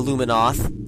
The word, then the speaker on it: Luminoth: If you notice what's a race and not a beast, we've got the space pirates, The Liminoth, the Luminoth, I pronounce it that way, the Chozo, but they haven't exactly decided if the Chozo are around or not.